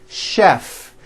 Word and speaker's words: chef: of words that are spelled with ch and are also pronounced with the sh sound words like chef and the City of